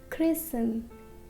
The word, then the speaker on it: christen: So this T is silent. It is listen. It is not listen, it is listen. Next, christen, christen.